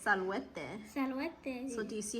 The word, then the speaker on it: salvete: Okay, but since it's multiple people, it's salvete. Salvete. So do you see how I spell it? Disculpeles. Yeah. Salvete. So Salvete. write salvete. A-T. Marek, it's not sla, it's salvete.